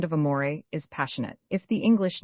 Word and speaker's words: amore: Amore, you fail sing the second syllable in a baritone voice from the chest with a little throaty tremolo on the surface to make it sound more palpitating.